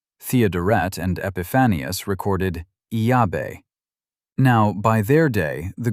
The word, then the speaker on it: Yahweh: The name opens with Yah. Its middle letter, Wah, adds a soft W sound. So a shape appears. Yah, a W, and a closing syllable. The second clue comes from the early church. Greek had vowels, so Greek writers tried to spell the name out. Clement of Alexandria wrote Yahweh.